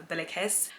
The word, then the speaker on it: BillyKiss: is your real name be like his yes my real name is Billy kiss it is spelled differently than I spell it online but it is still pronounced as Billy kiss and it's Arabic I'm